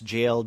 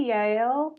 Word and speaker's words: JL: works as And that's JL Dean. Is that how you pronounce his name? JL. I say Yale. But JL. Yeah. Yeah. Pronounced like a Y.